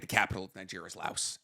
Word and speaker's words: Laos: La for people from Lao. It's not. You don't pronounce the S.